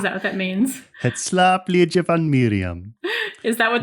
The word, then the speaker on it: slaapliedje: I saw the word slap and I was like, Yeah, and it is pronounced like that, slaapliedje, which apparently means slaapliedje van Miriam.